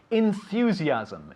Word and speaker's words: enthusiasm: easy is it enthusiasm ending with an m it's very important to hear the m at the end enthusiasm the translation is very easy but what is it enthusiasm exactly and in english enthusiasm very good enthusiasm you have to be very conscious of closing your mouth at the end of this word enthusiasm because if not you'll say enthusiasm okay so enthusiasm enthusiasm